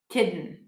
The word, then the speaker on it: kitten: Well, the difference is the voice. A kitten, I won't use my voice. Kitten, kitten. And for I'm kidding, I also wouldn't say that. I'm probably going to say I'm kidding, like a flap D.